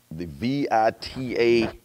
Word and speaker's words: VITA: The VITA income tax program. How y'all pronounce that? Vita? VITA, yes. VITA? Okay.